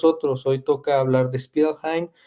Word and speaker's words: Spielrein: Yo lo pronuncio así porque finalmente era la pronunciación alemana, pero Beto saber cómo se pronunciaría porque era rusa. Eh, la querida Sabina era en realidad rusa. Entonces, bueno, habría que ver cuál sería la pronunciación rusa.